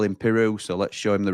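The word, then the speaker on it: Piroe: wing and Joel Peru I've been calling him pero but the leads Lads call him Peru so let's show him the respect that he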